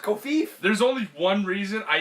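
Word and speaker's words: covfefe: You need to realize it's pronounced Kofif.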